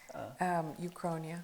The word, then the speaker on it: uchronia: Uchronia.